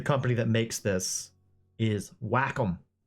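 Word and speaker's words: Wacom: uh that the correct way to pronounce the company that makes this is Whackom.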